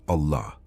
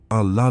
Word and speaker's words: Allah: Pronounce it in such a way that the word lasts almost the entire exhalation. It's not a quick Allah. It's Allah la dissolving slowly into silence.